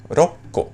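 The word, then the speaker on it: 六個: hasta aquí normal y ahora con seis que sería roco en realidad se dice roco por estas reglas fonéticas que hemos dicho no con siete sería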